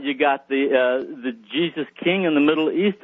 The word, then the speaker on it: Giza: British museum said is should be pronounced not Giza but Jesus oh really yeah we